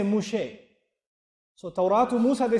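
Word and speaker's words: משה: And they don't say Mūsá in Hebrew, they say Mushe.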